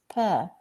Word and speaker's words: pear: Very often mispronounced. The correct pronunciation is pear. Is it an apple? No, it's a pear.